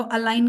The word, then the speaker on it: align: उसमें जो जी है वो साइलेंट होता है. जो IGN है basically. The combination is नॉट जी. The combination is IGN.